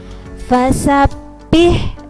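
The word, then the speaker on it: فسبح: Itu cara membacanya tasdid adalah dibaca rangkap, ditekan dan tidak ditahan, ditekan saja seperti huruf double.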